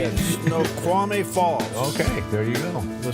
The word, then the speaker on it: Snoqualmie Falls: Snoqualmie Falls.